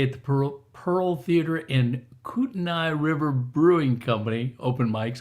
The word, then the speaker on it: Kootenai: It's Moyie Springs and Kootenai. And if you don't say it right, they'll know you're not from the area.